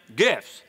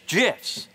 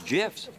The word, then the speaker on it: GIF: yeah Jess you say gifts it's an acronym acronyms pronunciation is determined by the creator of the set acronym like a proper name in this case the